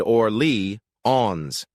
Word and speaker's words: Orléans: I found out right away that it's not pronounced like how Americans say New Orleans. It said Orly-ons.